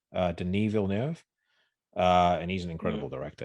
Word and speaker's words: Denis Villeneuve: It's I think you pronounce his name Denis Villeneuve.